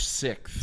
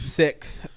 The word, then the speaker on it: SikTh: just dive right into it how do you pronounce the name sixth six s-i-k-t-h s-i-k-t-h sixth sixth um this album let me set the scene